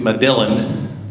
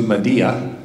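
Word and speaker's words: Medellín: It's spelled like Road to Medillin. We joke around and call it Road to Medillin. But it's actually pronounced Road to Medea.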